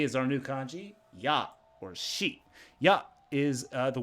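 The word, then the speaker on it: 矢: If you want to use arrow in a sentence, this is how you do it with ya. It can also be pronounced shi, especially when used with other kanji.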